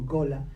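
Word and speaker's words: Gullah: Y también se empapó allí de la lengua, que se escribe G-U-L-L-A-H, y que he oído que la pronuncian como Gola, que es una lengua que mezcla muchos vocablos de comunidades africanas distintas con un inglés modificado.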